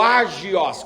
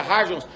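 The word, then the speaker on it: ἅγιος: é a palavra harges a palavra harges ou ágios com H que é pronuncia haja a palavra hargels quer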